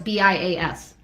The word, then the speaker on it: bias: No, bias, B-I-A-S. There's no T at the end. Bias.